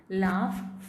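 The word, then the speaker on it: laugh: जैसे घ is pronounced, GH is pronounced differently in लाफ. इसमें यहाँ पे इसका साउंड क्या होगा, लाफ. फ यहाँ पे दो, यहाँ पे ऑलमोस्ट ये साइलेंट ही है, इसका कोई साउंड ही नहीं है.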